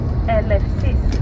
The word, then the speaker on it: Eleusis: Ancient Eleusis, Eleusis. Elefsis, we say in Greek.